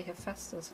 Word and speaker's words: Hephaestus: fries fastest i think i think you say hephaestus right because in what i've learned in germany and like in german and then greek slash latin i guess in the